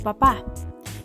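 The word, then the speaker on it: papá: two words papa and papa one means father while the other means potato the only difference is that father has its stress syllable in its last syllable it also has a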